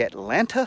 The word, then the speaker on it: Atlanta: let's start off us use the the correct pronunciation let's use it use that in a sentence today in sports the Atlanta Falcons defeated the New England Patriots to become